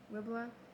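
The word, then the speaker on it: Riblah: Here's how to pronounce Ribbla. Ribbla, in the land of Amath, that he might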